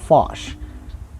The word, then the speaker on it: Foch: the Wikipedia link and he said here the pronunciation is posh fosh friend okay so um here we have Ferdinand